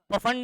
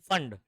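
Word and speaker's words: Pfund: इसको पफंड नहीं पढ़ेंगे, पी यहां पर साइलेंट है, फंड।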